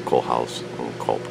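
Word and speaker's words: Kohlhase & Kopp: trouble pronouncing that, but having taken German classes in high school, 2.5 years of it, it's Cole House and Culp.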